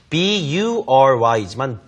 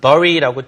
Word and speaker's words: bury: 비록 철자는 B-U-R-Y지만 bury라고 절대 읽으시면 안 되고요. 애 발음. 자, 딸기 할 때 strawberry 있죠? 그랑 발음 거의 똑같아요. bury.